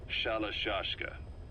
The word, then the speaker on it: Shalashka: somewhere along the line, Shashka got stuck on the end of Sharashka. The gorillas were using the name amongst themselves. By the time I got to hearing about it, pronunciation had wound up as Shalashka.